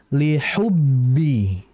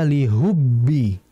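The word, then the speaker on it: لحب: harakat saja Kemudian berikutnya liubbi perhatikan liubbi ada huruf Ha jangan dibaca lihubbi Jangan dirubah menjadi ha ingat di antara kesalahan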